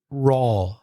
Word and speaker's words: raw: word for uncooked is raw our aw that's the same vowel sound as in words like door porta or more if you're English yes